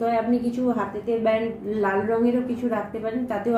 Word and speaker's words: লাং: লাম কথাটা লাম ল আকা আমরা কথাটা বলি লাম কিন্তু উচ্চারণ হচ্ছে লাং ল আকা অনুসর লাং এটাও যদি আপনি 108 বার বলতে পারেন আপনার রুট চক্র মজবুত হবে।